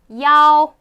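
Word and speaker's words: 幺: 1 읽으시면 됩니다 그리고 이때 1이라는 숫자가 있을 때에 이 라고 하지 않고요 야 라고 발음합니다 515 5 으 야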